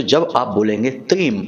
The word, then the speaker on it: त्रीम: तो अब ध्यान से सुनिए, इस मंत्र का उच्चारण हमें करना है त्रीम।